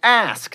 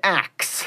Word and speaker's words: ask: Etc., not etc., and ask, not axe.